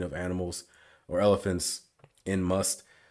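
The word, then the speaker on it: musth: I was about to say musk, but yeah, must.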